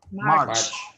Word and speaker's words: March: I have the CH, so I pronounce the T here. Oh, March.